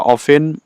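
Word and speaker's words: often: আছে ভিলেজারস মানে গ্রামবাসীরা অফেন অফেন এখানে টি উচ্চারণ হবে না অফেন অফেন মানে প্রায় গো যায় টু দ টাউন।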